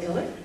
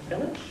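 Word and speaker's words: Ilić: And I'm going to start with Sanja Ilic, or Ilic, you can pronounce it apparently either way, and she's with Triage Wireless.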